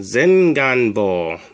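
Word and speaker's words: 前眼房: teach you how to say anterior chamber it's pronounced zin gunbo the first symbol zen means in front of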